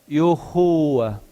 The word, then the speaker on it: Yahuwah: Pronúncia mais aproximada de nome do nosso Deus é Yahuwah.